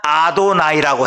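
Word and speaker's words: אדוני: 요거를 이제 히브리어로 원래 하면 어떻게 발음을 하냐면 아도나이라고 해요.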